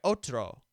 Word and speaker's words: otro: aluno now let's try otro which means other the stressed syllable is oat imagine your character looking